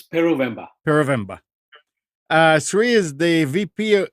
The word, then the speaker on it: Peruvemba: the hangout is our guest for today, Sri Peruvemba. Did I say it right, Sri? Yep, that's close enough. Oh, no, you say it. No, you got it right. It's Peruvemba.